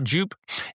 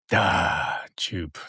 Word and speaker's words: Djupe: Well, I always say the D is for decoration, so it's just Djupe. Djupe.